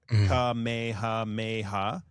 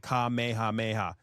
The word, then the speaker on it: Kamehameha: Is it kamya or is it so if you actually if you pronounce it phonetically like English it looks like kameha but in Japanese it sounds like kamehameha.